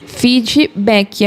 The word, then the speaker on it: feedback: Feedback é como se a gente colocasse um i bem forte no final, mas essa palavra não tem isso. Ela não pronuncia assim. O correto é terminar o som no K e aí fica seco.